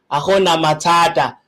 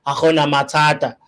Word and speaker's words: Hakuna Matata: So I'm trying to pronounce it in the best way possible, but I think it's Akuna Matata. I think that's how a Tswana person would pronounce it. You know, Akuna Matata, whatnot.